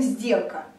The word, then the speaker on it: сделка: То же самое со словом «сделка». «Сделка». Тоже смотрим «д». У него пара «д». Т, Д звонкий, значит, соответственно, происходит озвончение, и опять звук З, сделка.